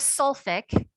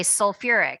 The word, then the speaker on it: sulfuric: But instead of sulfic, again, just in the acids, we say sulfuric. So it brings in that extra syllable.